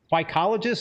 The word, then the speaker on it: phycologist: facilities worldwide he is currently is the lead psychologist is that how you pronounce that yep I'm an algae guy gotta